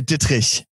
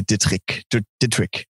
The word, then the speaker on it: Dittrich: If you were German, you would say Dittrich, but that's really hard. So many syllables. Yeah, usually Americans and British people say Dittrich. Yeah, that's actually, that's what I would have gone with.